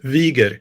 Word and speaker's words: Wiger: Today we have a very special guest, Wigger. Did I say that right? Pretty close, yeah. How do you say it? Wieger. Wigger. Okay, cool, Yeah.